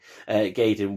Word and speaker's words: Gaiden: 4 and Gradius Gaiden, I'll say it right, Gaiden, which was a Japanese PS1 exclusive, and it was the first time it got introduced to the West on this PSP collection.